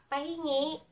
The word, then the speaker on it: pahingi: And our last Tagalog word for tonight, is ----- Pahingi.